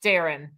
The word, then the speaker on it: Darien: Oh, I've heard Darien himself say that his name is pronounced Darren.